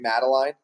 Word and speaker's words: Madeline: And just to make sure, so am I pronouncing your name right, Madeline? Yes, you are. Okay, Madeline.